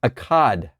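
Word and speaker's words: אחד: It's spelt in a way that you would almost hear the word Zion. It's Akkad.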